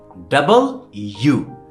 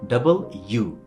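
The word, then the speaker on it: W: মন যেন থাকে হ্যাঁ ওকে এন্ড দেন এইটার উচ্চারণ আমরা ভুল করি আমরা বলি ডাব্লি কি বলি মিলটন কি বলছিল ডাব্লি ডব্লি হ্যা ওটা ডাব্লি না এটা খুব সহজ সেটা হচ্ছে কি ডাবল ইউ ডাবল মানে কি দ্বিগুণ না ওই ডাবল দুই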